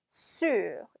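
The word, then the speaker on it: sur: 쑤 6 저 을 발음은 기억해 주셔야 되요 입은 우 안쪽은 입을 쑬 이렇게 발음 하시면 됩니다 자 그 다음에 운동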